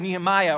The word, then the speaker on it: Nehemiah: This is the story of Nehemiah, or Nehemiah, as I like to say, because from my background, that's how we pronounce it.